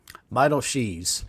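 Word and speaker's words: Beidelschies: Arkansas starter will be Landon, how do we pronounce it? Beidel-Shees.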